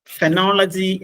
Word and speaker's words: phonology: ഫെനോളജി എന്നാണ് അതിന്റെ ഉച്ചാരണം.